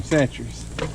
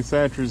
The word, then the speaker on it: Chachere's: And 3 or 4 lake houses down was Tony Chachere's himself. And I met his kids out there fishing. And I asked them, how do you say your last name? They said Chachere's.